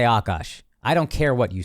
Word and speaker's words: Akaash: They'll say akash or akash. I say akash.